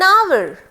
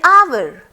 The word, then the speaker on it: hour: as other that means H remains silent in it which gives it a vowel sound our so and will